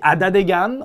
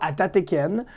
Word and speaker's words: Atateken: On dit Adadegan, on prononce pas Atateken. Puis c'est qu'il faut le prononcer comme les Mohawks le prononcent.